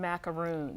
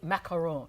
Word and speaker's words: macaron: I've got one little thing to work out with it first, but they are French almond macaroons. Yummy. So they're made, macaron, I have to say it correctly.